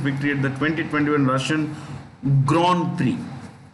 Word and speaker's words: Grand Prix: create the 2021 russian grand prix grand french word two separate words grind we say but they say gran and pre is price grand prize okay louise